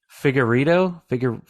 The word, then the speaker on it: Figueiredo: It is Figueiredo. Figueiredo. I can never remember exactly how to pronounce it.